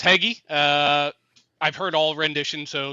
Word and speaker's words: Hege: So, last name's Hege. Nobody can seem to pronounce it. It's toughest four letters. See, why do you think I didn't embarrass myself? I was going to say Hege, and I'm like, no, it's got to be